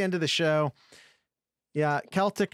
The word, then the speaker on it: Celtic: of the show yeah celtic not celtic uh it is spelled with a c although pronounced like a k i don't i don't